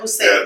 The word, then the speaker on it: Hosein: I have to always spell that a couple times because it's pronounced Hussein.